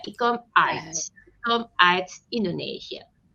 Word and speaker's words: uit: The U and the I together, it's pronounced as I. Yeah, ikom uit.